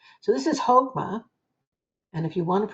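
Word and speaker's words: Chokmah: That ch is pronounced like a like a h.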